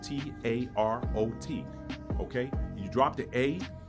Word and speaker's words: tarot: deal with the country tarot you got a t-a-r-o-t the final t is actually silent so if you drop